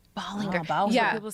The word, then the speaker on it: Ballinger: My whole life it was Colleen Ballinger. Ballinger.